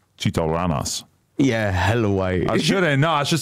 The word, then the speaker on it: Chito Rana$: How you say my name? You probably say Chito Rana, huh? Chito Ranas.